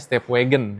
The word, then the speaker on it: STEP WGN: Di sebelah kiri ada step WGN ya. Namun kita bacanya stepwagon ya.